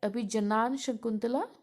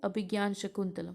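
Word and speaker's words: अभिज्ञानशाकुन्तलम्: Serpent and the Rope, Abhigyan Shakuntalam, The Gift of the Magi. See, this pronunciation is different. It's written like Abhijanan Shakuntala, but we read it as Abhigyan Shakuntalam, right?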